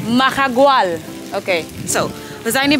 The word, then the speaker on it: Mahahual: How do you pronounce the name? Mahahual. Mahahual.